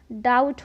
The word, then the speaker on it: doubt: उसी तरह DOUBT, ये डाउट नहीं डाउट होता है। नेक्स्ट लेटर है W। चलिए जानते हैं कि W कहाँ साइलेंट होता है।